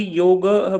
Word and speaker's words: योग: बोलेंगे मैम, या खाली योग बोलेंगे, या योग होगा खाली, कैसे उसका उच्चारण होगा मैम इसका? उसका शुद्ध मतलब जो हम जिस कॉन्टेक्स्ट में बोलते हैं ना फिलोसॉफी में, तो वो योग होगा।